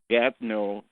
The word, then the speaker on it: Gatineau: Don't forget the word Gatineau, which is French, phonetically in English becomes gate in water.